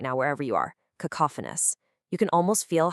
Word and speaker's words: cacophonous: It sounds like ka-ka-fa-ni for the noun, and for the adjective form we're focusing on today, it's ka-ka-fa-nus. Actually, try saying it out loud right now wherever you are. Cacophonous.